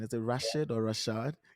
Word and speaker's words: Rashad: Rashad I believe I got it right the pronunciation is a Rashid or Rashad Rashad you got it perfect perfect okay so I